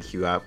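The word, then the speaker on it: QooApp: It is on the Q app also, so you guys can download the Q app, which some people ask me how it's spelled.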